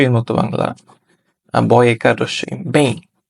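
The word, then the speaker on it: bem: যেই এম টা আছে এটা উচ্চারণটা জোরে হবে না এটার উচ্চারণটা এই ই এর সাথে ব্লেন্ড হয়ে যাবে যার কারণে এটার উচ্চারণটা আসবে অনেকটা এরকম পেইন পেইন রসই এর মত বাংলা বয়কার রসই বেইং তো কোমস্তার ক্ষেত্রে আসলে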